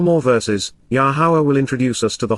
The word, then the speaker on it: Yahowah: Imperfect, continuously with unfolding implications, says, Amar, conveys and attests, Yahowah, Yahowah, the proper pronunciation of Yahowah based upon his Torah, teaching regarding his higher existence.